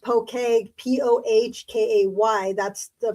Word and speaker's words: poke: So it did so the word poke, pronounced poke, Pohkay, that's the pronunciation.